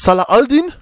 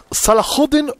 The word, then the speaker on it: Saladin: mal anders ausgesprochen ja ich kenne jetzt als salah al deen salahuddin und saladin also das sind drei unterschiedliche ausweisen es heißt immer saladin